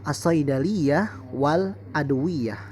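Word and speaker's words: الصيدلية والأدوية: Lalu saidaliyatul wal adawiyah. Maaf, tulisannya agak kurang jelas, ya, karena di handphone, jadi saya harus melihat dekat sekali. Dibacanya adalah as-saidaliyah wal adwiyah.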